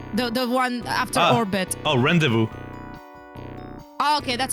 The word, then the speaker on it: rendezvous: Oh, rendezvous. Oh, okay, that's how you pronounce it.